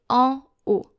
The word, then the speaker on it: en haut: So therefore you should say, to say upstairs or up there, en haut. En haut. I have heard some students say en haut, which is wrong because O is a silent H. So en haut.